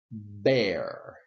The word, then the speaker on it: bear: pronounce it bear and this I pronounce it bear my question for you is what is the difference in pronunciation think for a moment okay well I will tell you what the difference is there is no difference okay in pronunciation they sound exactly the same now there are